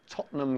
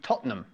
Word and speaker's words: Tottenham: you ever been to Tottenham Court Road?